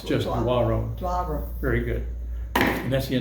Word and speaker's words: Doiron: and that's my name, Doiron. And the pronunciation looks like that if you were to try to play with it. So, Doiron. There's no R in the front. No, not draw. It's just Doiron.